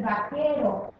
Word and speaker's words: vaquero: Wow es goody el vaquero vaquero también se escribe con q fíjate como escribimos la u pero no la pronunciamos otra palabra que escribimos